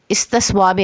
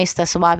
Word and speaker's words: استصواب: مقصد کے لیے اقوام متحدہ کے زیر نگرانی استصواب رائے کرایا جائے گا۔ بھارت نے اس وقت تو یہ فیصلہ قبول کر لیا، لیکن کچھ عرصے کے بعد کشمیر میں استصواب رائے کروانے سے انکار کر دیا، اور یہ